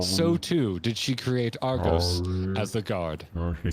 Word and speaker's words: Argos: why does the name Argos sound so familiar I mean if I pronounced it the wrong way I said it Argus which if you play